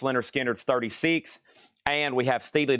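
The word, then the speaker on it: Lynyrd Skynyrd: Leonard Skinner, pronounced Leonard Skinner's 36.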